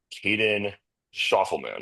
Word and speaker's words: Caden Schoffelman: Today on the show, I have Caden Schoffelman. Is that correct? Did I pronounce that correctly?